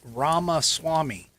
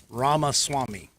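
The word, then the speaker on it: Ramaswamy: it but I can tell you it's ramas Swami so if I werey going to try and fanatically spell it I would say r a m a s w m y ramas Swami anyway I think I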